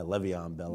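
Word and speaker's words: Le'Veon Bell: will be the guy Levon Bell if we want to say it right will be the guy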